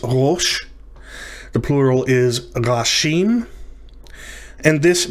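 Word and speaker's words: ראש: let's begin with this word the uh i'll pronounce it for you it's rosh the plural is and this means head top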